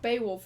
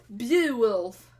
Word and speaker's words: Beowulf: Also, the name, if you actually pronounce it like it's spelled, it's not Baywolf, it's Beowulf.